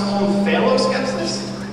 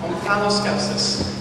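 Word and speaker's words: omphaloskepsis: Can that also be pronounced on phalloscepsis? It can. It would be wrong. On phalloscepsis. O-M-P-H-A-L-O-S-K-E-P-S-I-S. On phalloscepsis.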